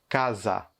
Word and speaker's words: casa: que à chaque fois, on prononce le A d'une façon ouverte. Donc, case, au Brésil, on prononcerait casa, casa.